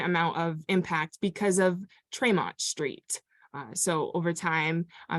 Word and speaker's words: Tremont: of impact because of Tremont Street so over time uh maybe being pronounced in different ways try mounting you could call it Tri-Mountain but in turn uh